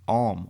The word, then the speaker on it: Aum: it the arm or AUM pronounced arm is the oldest omnific name of God in the world that it came out of India and that it has also been spelled a om but pronounced the same way Frank C Higgins has